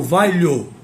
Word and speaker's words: valho: Eu valo não, eu valho. A forma correta de pronunciar o verbo valer, o verbo valer na primeira pessoa do presente, do modo indicativo, é eu valho.